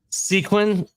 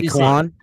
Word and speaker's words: Saquon: Do you know how to pronounce that word? Sequin. It's like a sequin off. No. No. What is What it? is it? You say- Saquon.